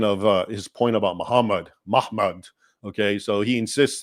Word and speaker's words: Muhammad: If you write Muhammad's name today, there is no vowels because people know it's pronounced Muhammad. Okay?